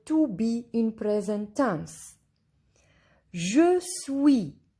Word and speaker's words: Je suis: Je suis. Here S is silent.